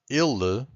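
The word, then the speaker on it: ele: So I'm going to tell you that ill the first one this e it's a bit more closed.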